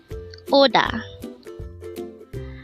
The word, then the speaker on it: 오다: This is pronounced as a two-syllable word. The first syllable is O and the second syllable is DA. Pronounce it with me. ODA.